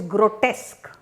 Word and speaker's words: grotesque: the better word is grotesque grot s see the quue it's gone it's a French ending grotesque okay grotesque grotesque means